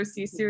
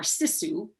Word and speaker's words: sisu: know we grew up we called it more sisu um and i know now that and the true pronunciation is sisu but we called it you know living we're